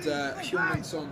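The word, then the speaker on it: Son Heung-min: And Heung-min Son scored a third for Spurs.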